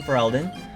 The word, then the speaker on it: Ferelden: I think I recognize it as Ferelden. Is that how you say it? Oh, is it really that obvious? Yeah, I'm from Ferelden.